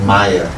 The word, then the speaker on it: Maya: the word is called Maya for those who don't know much about sister Mayans made up of two syllables MA and yeah ma means not and